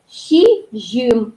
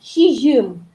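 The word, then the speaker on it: сизьым: Первая согласная «с», она мягкая, как «щ» произносим, «щи». Да? Дальше идет «з» мягкая, она «ж» произносится. Поэтому получается «щижим», «щижим».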